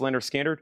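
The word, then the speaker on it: Lynyrd Skynyrd: Leonard Skinner, pronounced Leonard Skinner.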